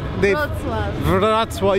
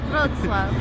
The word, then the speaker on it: Wrocław: Wrocław. You gotta roll the R. It's kind of hard though. Wrocław.